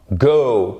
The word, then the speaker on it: go: Ce n'est pas to go, ok? C'est to go, aller. Vous avez une diphtongue. Oh, c'est comme dans hello, c'est pas hello, c'est hello.